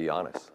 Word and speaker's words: Giannis: Everywhere we go, you know, people come up and say, okay, how do you say his name? And I just say Giannis.